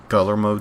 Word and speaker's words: Guillermo: saying, but I'm like, I don't think you're supposed to pronounce all those. Like, if it's two L's, it's supposed to be, in Spanish, that kind of makes a different sound. Like, maybe. Kind of makes a Y sound.